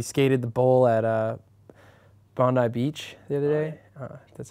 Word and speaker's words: Bondi: gosh we we skated the bowl at uh Bondi Beach the other day that's how you pronounce it yeah it was awesome it was